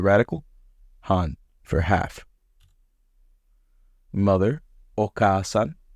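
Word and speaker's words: お母さん: Mother, Oka-san. Note there's the after the ka, which I feel like is a little tricky for me.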